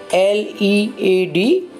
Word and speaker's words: lead: both are similar spelling L e a D or D parent between these two words the first meaning is as naming world lead pronounced like bread is metallic element Pella Jew lead hemara